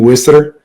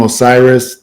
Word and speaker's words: Osiris: traditional pronunciation of Meniooh, you pronounce his name Wisser. The Greeks pronounced his name Osiris.